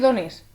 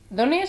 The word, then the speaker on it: Dones: Es Dones. Dones en español, sin acento, sin inglés, nada, Dones.